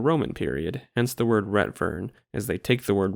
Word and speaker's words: Retvrn: tweets like this from users with the word Retvrn in their handle, and yes, I will be pronouncing it like that.